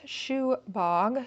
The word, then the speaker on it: Subagh: set is about and shugbot's pronounced shoe bog it literally means fortune